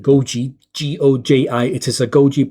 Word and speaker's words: Goji: Using this, which is I think it's pronounced Goji, G-O-J-I.